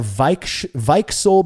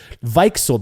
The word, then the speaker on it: Weichsel: Next, besides Beechwood and Oak, Schlenkerla brews Weichel beer or Weichsel beer. I'm trying to pronounce this right because he put like pronunciations in his email. Weichsel beer with cherry smoked malt, and Weichsel is a type of sour cherry.